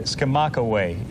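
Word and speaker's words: Skamokawa: Hey, Jeff, I got to tell you, Escamakawa is the correct pronunciation.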